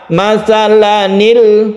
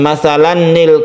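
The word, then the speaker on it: مثلاً: Karena tidak panjang maka membacanya masalanil, masalanil. Nun ini harokatnya pasti kasroh. Masalanil qaumul ladzina kazzabu. Kenapa tanwin ini dibaca a bukan an, bukan masalan nil?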